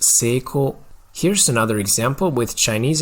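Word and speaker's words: 成功: In Japanese, it's pronounced 成功.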